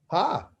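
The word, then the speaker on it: ה: That hey is the name of the letter, but how do you say it? You say ha. But you just use the letter hey. So hey is the actual name of the letter, but the sound is ha.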